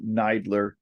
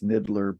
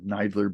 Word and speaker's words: NIDILRR: um so um neidler we pronounced that acronym nidler when you look at it you might think it's niddler but um we like the sound of nidler better so um that's